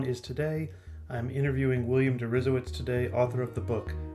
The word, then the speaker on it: Deresiewicz: William Deresiewicz. Did I pronounce that right?